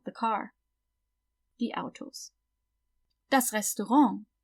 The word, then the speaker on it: Restaurant: Das Restaurant. So we pronounce it the French way, because it is a French word, so.